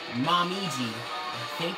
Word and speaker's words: Momiji: have the greatest character everyone was waiting for mom easy hate that's how you say her name but yeah